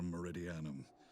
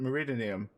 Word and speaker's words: Meridianum: without rank or allegiance that's how you say it marie diana god i've gone this whole time without knowing how to say that word i just called it meridianium okay cool impossible there's